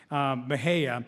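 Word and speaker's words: Mexia: which I spent a long time practicing to pronounce Mahaya who played football at Southern Methodist University have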